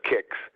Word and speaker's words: CICS: And I've heard estimates that my friends in KIX land, we pronounce it CICS KIX, the estimates are that 90% of the KIX transactions are written in COBOL.